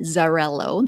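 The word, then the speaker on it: Xarel·lo: So this one is 55% Zarello, that's spelled with an X, and it is, you'll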